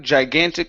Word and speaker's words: gigantic: is the word gigantic instead of gigantic G gantic yes okay so gtic uh looked looked like gigantic snowflakes try that look